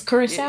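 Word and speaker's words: Curaçao: Hey, you know, I've never known how to pronounce Is it a That country? word? Yeah, it's Curacao. Yeah, it's Curacao.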